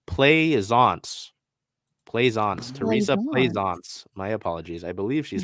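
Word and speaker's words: Plaisance: so I mean maybe pleisens oh wait yeah hold on the pronunciation Glide is play zance my apologies I believe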